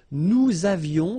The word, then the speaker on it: nous avions: Nous avions, let's make this beautiful liaison here. Nous avions.